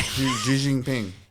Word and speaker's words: Xi Jinping: Xi Jinping.